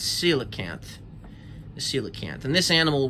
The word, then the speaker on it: coelacanth: the coelacanth for a long time i couldn't pronounce this but it's coelacanth the coelacanth and this animal was thought to